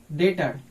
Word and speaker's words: debtor: उसी तरह से यहाँ पे है DEBTOR, डेटर, यहाँ पे भी क्या है, बी साइलेंट है, यानी टी के पहले बी आया है इसलिए बी साइलेंट है।